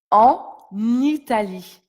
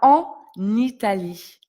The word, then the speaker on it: en Italie: Ça se prononcera elle va en Italie. Ici, comme ça commence par une voyelle, nous faisons la liaison. Elle va en Italie.